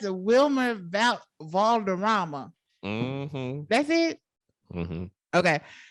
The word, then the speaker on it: Wilmer Valderrama: How do you pronounce it? Wilmer Valderrama.